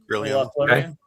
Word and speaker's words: Corellon Larethian: I can't pronounce his name because I but I'll tell you it's the Elven god Corellon uh Corellon Larethian.